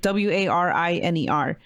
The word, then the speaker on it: Wariner: Warner? Maybe? Warner? It's like Wariner. The Sound of Gravel?